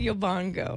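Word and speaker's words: Yobongo: y Bango is running yo Bongo right oh boy Leo is that not how you say it yo Bango yo bongo like bongo drums like Santana's Bongo player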